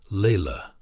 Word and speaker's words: Laila: She revealed to People magazine that she had adopted a second child, a beautiful little girl named Laila, pronounced Laila.